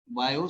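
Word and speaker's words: Biot: कुछ लोग उसको बीओ पढ़ते हैं तो उस प्रोनाउंसिएशन में जाइएगा, कुछ लोग बायो पढ़ते हैं। हिंदी में चूंकि बायो सेवर्ट्स लॉ लिखा हुआ है इसलिए हम बायो सेवर्ट्स।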